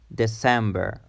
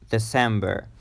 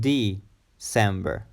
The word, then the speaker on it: December: last month is December December December the stress is in the second syllable Sam Sam December wanting more it's not D cember December December December is